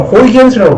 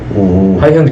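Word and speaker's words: Huygens: 우리는 다 호이겐스라고 하는데, 이게 네덜란드 말이라서 이게 G가 H 발음으로 나요. 하이헌즈.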